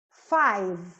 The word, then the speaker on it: five: Five. Five. Eu paro no V, ó. Five.